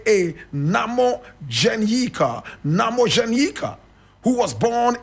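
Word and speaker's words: Nhamodzenyika: a son and the son was called I'll spell that n h a m o d z e n y i k a Namo Janika Namo Janika who was born in 1963 three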